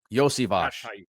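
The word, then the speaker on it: Iosivas: Can I uh get it right and say Andre Yosvivos? Yosvage. Yeah, that's how you pronounce it.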